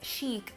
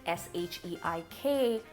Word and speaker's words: sheik: about in this video, I am going to go with that pronunciation and refer to that character as the sheik. Even though, let's be clear, it's a complete bastardization of the actual word.